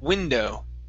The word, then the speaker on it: window: is the word window instead of we window with a long e it's a short i sound window why do i keep